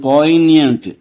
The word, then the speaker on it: poignant: తరువాత, "poignant."